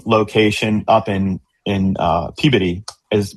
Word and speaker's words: Peabody: Um our uh in the game location up in in uh Peabody, is which is how you say it, near Boston, not Peabody. That's how you want to say it. Don't say that.